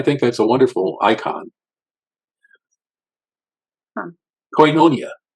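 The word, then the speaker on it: κοινωνία: coia coia yeah it comes from Coos though coinonia coinonia is the word coinonia coinonia is up here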